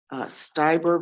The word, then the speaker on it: Stieber: It Stieber or Steiber? It's Stieber, Your Honor. Stieber.